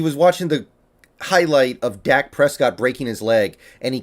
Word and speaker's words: Dak Prescott: Like he was watching the highlight of Dak Prescott breaking his leg, and he kept calling him Dake Prescoot because he didn't know how to pronounce the name, but no one is that stupid.